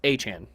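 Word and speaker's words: Etienne: who is now now that he's in New Orleans and is pronouncing it the proper cinjun way it is Travis Aan Jr.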